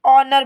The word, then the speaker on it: ऑनर: यहां पर ध्यान दीजिए आपका एच लिखा जाएगा पर पढ़ा नहीं जाएगा क्योंकि आप इसे सिर्फ और सिर्फ ऑनर पढ़ेंगे एज साइलेंट है ओनर का मतलब होता